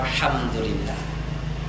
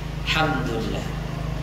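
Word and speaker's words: الحمد لله: Tadi baru saja dibaca Alhamdulillah. Alhamdulillah. Mana alnya? Alhamdulillah. Alhamdulillah. Alhamdulillah. Mana alnya? Tidak pantas. Kita harus fasih membacanya. Alhamdulillah. Alhamdulillah. Barakallahu fiik. Harus dibiasakan membaca-baca kata-kata seperti ini dengan pelafalan yang benar.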